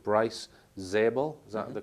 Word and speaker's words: Bryce Zabel: Dolan following Richard Dolan is a guy called Bryce zabel is that the correct pronunciation yes that's right so life after contact